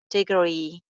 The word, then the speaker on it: degree: Degree. Degree ka second syllable jo usko stress kiya jayega.